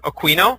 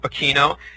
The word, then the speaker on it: Aquino: Colonel Michael aino and it's pronounced two ways it's either Aquino or Kino he uh was essentially